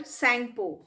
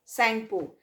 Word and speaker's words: Tsangpo: where it is called sangpo t is silence here right t is silent here and it's written as this tsangpo sangpo now when it enters